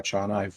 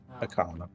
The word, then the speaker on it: Akana: So let me know when you want to work on Akana or Achana. I forget how we pronounced it originally. Zim, and we can start developing them more in depth. It would be Akana. Akana. That's kind of what I figured. They tend to prefer the hard consonants.